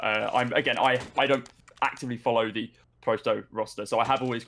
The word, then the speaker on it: pro100: I've never heard it called Prosto, but I don't actively follow the Prosto roster, so I have always called it Pro100.